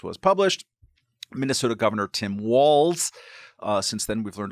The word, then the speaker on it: Walz: published Minnesota Governor Tim Walls uh since then we've learned a lot about the Bernie supported bro uh first that you pronounce his name walls um also that he's